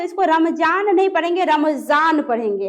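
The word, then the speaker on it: रमज़ान: रमजान पढ़ेंगे। है ना? यानी ध्वनि में विशेषता। नॉर्मली जान नुक्ता लग गया तो जान है ना? तो यहां पे रमजान नहीं होगा। रमजान होगा। ठीक है?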